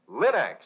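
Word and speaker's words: Linx: Remember, Linex is spelled L-I-N-X, Linex.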